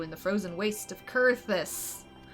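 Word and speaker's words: Coerthas: how fared you in the Frozen waste of kurus it's pronounced kurus I'm sorry you pronounced things for months one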